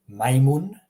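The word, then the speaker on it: majmun: So, like the word maimun, maimun, meaning monkey. Notice how I pronounce monkey. Well, take that M sound and use it in Croatian.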